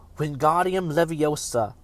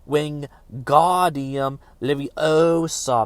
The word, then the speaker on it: Wingardium Leviosa: Wingardium Leviosa, he shouted, waving his arms like a windmill. You're saying it wrong, Harry heard Hermione snap. It's Wingardium Leviosa. Make the God nice and long.